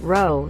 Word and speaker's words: row: don't use the word row, so to clarify it means an argument. Also it's pronounced like ow, not like oh, cause that's probably not obvious from text.